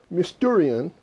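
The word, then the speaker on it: μυστήριον: The word mysteries is from the Greek word mysterion, or more like mysterious, but it's mysterion is how you pronounce it, or mysterion is, I think, the actual pronunciation in the Greek.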